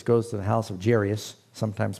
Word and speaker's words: Jairus: story where Jesus goes to the house of Jairus sometimes pronounced Jiraiya's and his daughter is sick when Jesus first